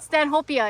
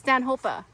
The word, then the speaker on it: Stanhopea: It's not Stanhopea. It's Stanhopea. According to ea on the end? Because the guy's name is Stanhope.